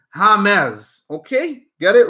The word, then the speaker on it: James: of the football names don't call him James his name is not James his name is Hamed okay get it right